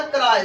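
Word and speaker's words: cry: और पता है वाई का उच्चारण क्या, आई बना, समझे, स्काई, स्काई आकाश। अब देखो मैंने क्या लिखा, कराय, सी आर वाई, क्या हुआ, कराय, कैरी नहीं हो, कराय होगा, ठीक है।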